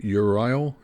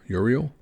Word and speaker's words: Uriel: And that band is going to be Urile Uriel. Um, sounds like whether you're British or American, it might come off a little bit different uh, pronunciation.